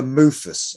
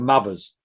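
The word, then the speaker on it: Muthas: And there was a compilation album called Metal for Mufus or Mufus. We used to say Metal for Mothers because it's spelled M-U-T-H-A-S, right?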